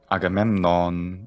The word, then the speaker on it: Agamemnon: either it turns out i would say agamemnon what do you think that might sound like in homer and then classical greek agamemnon would be pretty much the same from both of them i think okay so that